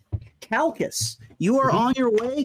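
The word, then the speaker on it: Chalcis: the city is that is that pronounced uh chalces or calces it's c-h-a-l-c-i-s all right you're on your way to to chalces oh we're waiting too while we're at it hey welcome and with us is what was it pronounced as it's calcus calcus you are on your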